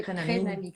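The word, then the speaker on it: Crénamik: Atelier Crénamique. Je prononce bien? Oui, Crénamique. C-R-E-N-A-M-I-K.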